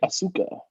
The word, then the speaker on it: Asuka: we've been i'm so sorry guys we've been mispronouncing this the whole time it's actually asuka no you stopped that kurt angle i love